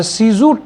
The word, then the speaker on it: Cuezu: सीजू, sorry मैं शायद गलत आपसे बोल रहा था, सीजू टेक प्राइवेट लिमिटेड। तो इसकी स्पेलिंग है, हमारे यहाँ पे 1-2 लोग बहुत